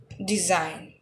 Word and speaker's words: design: pronunciation is consign design design in this letter the letter sorry in this word the letter g is silent design design foreign foreign